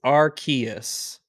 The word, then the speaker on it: Arceus: is arc okay yes it's canonically it's archaeas because they they released a book on it wow yeah it had a how to pronounce it how to say it in the book archaeous that's a [ __